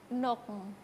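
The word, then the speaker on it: nokng: Nok. Nok. Nok. Iya. N-O-K-N-G kalau misalnya dituliskan. Iya. Berarti bacanya nok.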